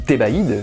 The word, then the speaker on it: Thébaïde: Et quand je te dis Thébaïde, je te parle pas de toi en fait. C'est pas comme si je disais T avec la conjugaison. C'est que la syllabe T, baïde, tu vois.